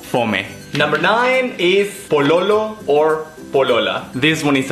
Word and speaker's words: pololo: boyfriend and girlfriend poo boyfriend POA girlfriend as in police lo as Loco lo as in Loco again if it's for a guy and La as in Las Vegas if it's for a girl po POA number 10 Plata